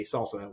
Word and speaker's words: SLSA: off with uh slsa salsa what is it and like what do you do because this is a really good good topic sure so salsa is how we pronounce it stands for um supply